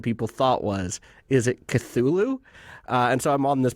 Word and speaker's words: Cthulhu: Or is it Cthulhu? The characters in this kind of big Cthulhu mythos, we can't pronounce them correctly. Like, I say Cthulhu, and anybody who's going to write in and correct me is wrong, because Lovecraft is pretty clear you can't pronounce those names because we don't have tentacles and 30 tongues, and there's like Cthulhu, there's Cthulhu.